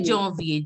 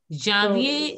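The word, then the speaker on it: janvier: it should be Jovier. Jovier is the right pronunciation. Javier is wrong because A-N, wherever you see A-N, it has to be, wherever you see A-N, it has to be pronounced as on.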